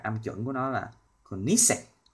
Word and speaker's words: Koenigsegg: Rồi bây giờ mình sẽ phát âm chuẩn của nó là Koenigsegg, Koenigsegg.